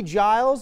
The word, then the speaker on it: Giles: GIRLS DOUBLES -FORT BENTON'S MEGAN CLARK AND KATIE GILES (RHYMES WITH ISLES) VS.